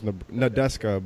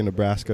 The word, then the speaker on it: Nadeska: Her name's Nadeska, but I always say Nebraska because I Nebraska. know how to pronounce it.